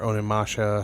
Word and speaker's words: Onimusha: Anything Final Fantasy, I used to love Onimusha, beat the hell out of that game, or Onimasha, however, some people pronounce it differently.